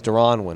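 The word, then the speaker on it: Deron Winn: No, I called him Derron, as in D, like Derron, like D-E. It's Derron Win, okay?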